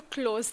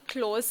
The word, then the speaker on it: close: the same spelling but different meaning and or pronunciation. Let's take a tongue twister. The waiter wasn't close enough to close the door. As you can see, close and close have the same spelling.